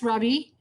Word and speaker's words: Ravi: his hand up yes ravie Miss beam says I notied she says his name right for the first time with the accent on the second syllable could you tell please